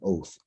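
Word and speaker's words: אות: It's called an oath. That's how you say it. Oath.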